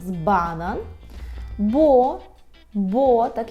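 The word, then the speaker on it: banan: наприклад банан банан так зверніть увагу наголос банан Бо бо так і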